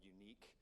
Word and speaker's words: Yuneec: They build a device called a Solo that has a GoPro on it, and then there's a separate company called Unique. YUNEEC is how you pronounce that.